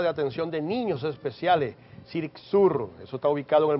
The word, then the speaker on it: CERICSUR: Ella es coordinadora de CERICSUR, así se pronuncia, CERICSUR.